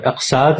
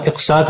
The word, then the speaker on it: اقساط: یعنی غلط طور پر املاک، اضلاع اور اقساط وغیرہ بولا جاتا ہے، حالانکہ اس طرح